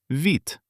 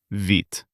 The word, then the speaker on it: вид: В before е becomes soft, ви. The letter д at the end is devoiced and turns into т. It turns out вит. We write вид. We say вит.